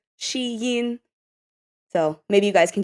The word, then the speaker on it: Shein: Well, so first of all, the way that you pronounce Shien properly in Chinese is shein.